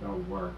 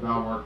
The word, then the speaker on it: Belvoir: We're back to the entrance of Belvoir Castle, incidentally pronounced Beaver by the local people.